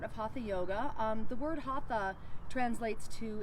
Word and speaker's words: hatha: hatha yoga the word hatha translates to it's actually pronounced hot ah which means Sun Moon and it's balancing and